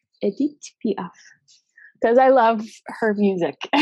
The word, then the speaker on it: Edith Piaf: And I want to pronounce Edith properly. Edith Piaf. Edith Piaf.